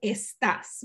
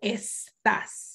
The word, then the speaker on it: estás: For example, estás, you can hear the sibilant at the end of each syllable. Another option could be aspiration. That would be está. So that's, you only hear the friction, está.